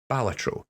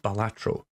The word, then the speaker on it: Balatro: do actually ask my audience how do you pronounce the name of that game it is apparently balatro not balatro as I have been saying for far too